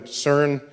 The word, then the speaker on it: CERN: the CERN collaboration so CERN is how you pronounce the word which I think in French that's the sequence of words but in English it's the European Center for nuclear research you swap some letters back and forth and you get CERN